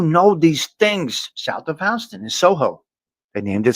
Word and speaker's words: Houston: It's spelled Houston. So out of towners call it Houston. It's Houston.